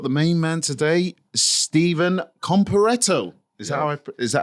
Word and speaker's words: Comparetto: And we've got the main man today, Stephen Comparetto. Is that how you pronounce it?